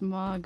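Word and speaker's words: Mohg: Okay, our next boss is Mog. Is that how you pronounce it? M-O-H-G, Allie? Mog? Mog? Yeah, do you know that one? Yeah, that's Mog, all right.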